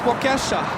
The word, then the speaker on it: Waukesha: No, it's pronounced Waukesha.